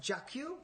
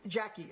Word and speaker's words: Jackie: We had this woman, Jacques. Is that Jacques? She's teaching Jackie. Oh, yeah. Sorry, thank you. That's French. French. Jackie. French Jackie. Yeah, I was trying to say it like a French person.